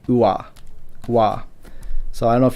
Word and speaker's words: わ: It's kind of subtle, but wa and ua, wa, ua. It's probably not a big deal if you just pronounce it as wa, but just so you know the kind of linguistic roots, the w is really just a u sound. It's a u plus whatever the next thing is.